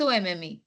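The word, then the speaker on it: homme: H is silent huh H is silent in French there is no her sound in French so how will you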